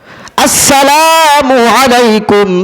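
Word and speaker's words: السلام عليكم: সেটাও রসূল শিখায় দিয়েছে আসসালামু আলাইকুম ওয়া রাহমাতুল্লাহ আসসালামু আলাইকুম রহমাতুল্লাহ এই সালামের প্রথম যে হামজা আছে এই হামজাটা শক্ত করে উচ্চারণ করতে হবে অনেকের হামজাটা বোঝাই যায়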